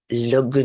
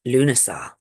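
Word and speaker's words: Lughnasadh: look at that you kind of go o Lugar but actually it's pronounced lunasa which doesn't look anything like that when it's written down but lunaa is on the 1st of August and this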